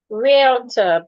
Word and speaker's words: realtor: Realtor.